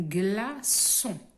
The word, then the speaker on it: glaçon: Nous avons une leçon, une façade, un glaçon, un citron.